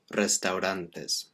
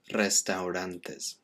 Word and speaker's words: restaurantes: Now again with this one, it's very similar to aeropuerto in that the AU, we pronounce those separately. Restaurantes. Whereas in English we kind of put all that together. Or a lot of British English speakers just kind of get rid of it altogether. Restaurants. But restaurantes. Make sure you pronounce all of that word.